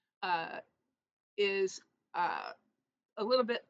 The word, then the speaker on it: Samhain: You might sometimes hear some people call it Samhain, but it is technically pronounced Samhain, is uh, a little bit obscure.